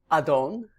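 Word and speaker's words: אָדוֹן: The first word in the upper right is pronounced Adon, or the plural, Adonim, and it means Lord or Master, masculine noun.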